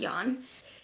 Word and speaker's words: Ian: are but i know it's ian but it's pronounced yawn and then i'm not